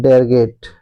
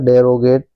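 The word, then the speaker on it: derogate: डेरगेट है ना? तो ऐसे अगर पढ़ेंगे तो इसको क्या है? डेरोगेट है ना? टू गेट डेरोगेट बट it's wrong pronunciation right pronunciation is डेरगेट है ना डेरगेट का मतलब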